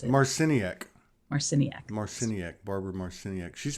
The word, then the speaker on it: Marciniak: I'll learn how to pronounce it. Marciniak.